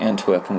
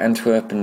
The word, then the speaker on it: Antwerpen: They're calling Antwerpen, which is probably how it's pronounced in Belgium, but in English it's called Antwerp. I thought they would go